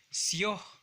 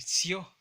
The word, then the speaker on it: sayo: Nosotros de manera natural lo pronunciamos como sio, sayo y sio.